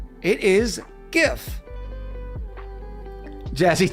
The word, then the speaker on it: GIF: For instance, GIF. It is not a GIF. Okay? Jif is a peanut butter. It is a GIF. The first word stands for graphics. G. It is GIF.